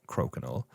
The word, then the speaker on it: Crokinol: It's like a circular uh uh it's spelled as it's as it sounds but with a K. Crokinol.